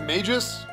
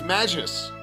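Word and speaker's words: Magus: wait you guys you guys pronounce it mages it's magis it's magis i said it's madges obtain speed belt obtain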